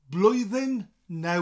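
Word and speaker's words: Blwyddyn Newydd Dda: we'll start with that happy New Year is blue then now with the bloated Ploy then now if the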